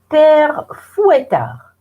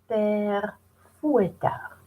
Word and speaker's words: Père Fouettard: And the second one is Père, now listen to the pronunciation, Père Fouettard. Père Fouettard.